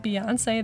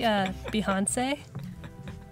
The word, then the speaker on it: Behance: Steven Behance, you've been pronouncing it like Beyonce this whole time. It's actually Behance.